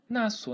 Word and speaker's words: nasço: Note que nasço, pessoal, nem pronuncio esse S, né? Esse S aqui eu não pronuncio, só pronuncio como se fosse só o C cedilha.